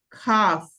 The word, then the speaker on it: cough: Ajá, para que vean cómo es loco inglés con GH, pero se pronuncia cough.